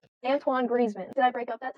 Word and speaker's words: Antoine Griezmann: not talking okay okay Antony gridman retires from International Football I say his name right no it's Antoine Antoine griman I keep breaking up oh Antoine Griezmann did I break up